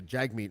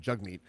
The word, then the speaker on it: Jagmeet: and I admit that I'm guilty of accidentally pronouncing a Jag meat instead of jug meat and I would just like to say to